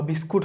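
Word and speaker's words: biscuit: Build, বিস্কুইট বা বিস্কুট হবে না, এটাকে বিস্কিট।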